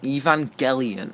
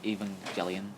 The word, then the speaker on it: Evangelion: Evangelion. Yeah. Alright. I thought it was Evangelion.